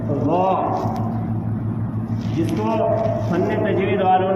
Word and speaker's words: ض: ہیں سبحان ربی العظیم، زا سے نکلا تو بھی غلط، جیم سے نکلا تو بھی غلط، ضا سے نکلا تو بھی غلط۔ اس کا صحیح تلفظ ہے ضا، جس کو فن تجوید